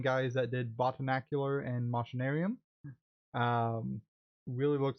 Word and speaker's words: Machinarium: weird art styles uh would it be machinarium not what probably yes machinarium is probably the proper way to pronounce it um you're not